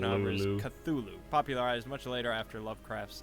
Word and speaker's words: Cthulhu: tongue so no answers Cthulhu is the most common pronunciation that is what I will continue to use you even see more